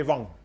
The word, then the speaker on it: Wang: So in Norway, then pronunciation V or W, same. Then the Germans also would say Wang.